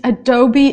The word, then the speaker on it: Adobe: Illustrator and Photoshop software look how we say Adobe it's Adobe Illustrator and it's Photoshop a